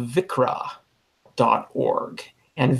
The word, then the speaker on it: viXra: one is is called vikre dot org and vikre is spelled VIX are a right it's just a arxiv backwards all right so it's VI chi